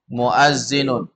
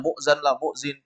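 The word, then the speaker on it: مؤذن: yang yang ketuj muinun muazinun itu Jangan dianggap sepil ya jangan sampai nanti Antum masih bingung bacanya Muzan lahzin bacanya Muazin Jadi kalau yang kayak begitu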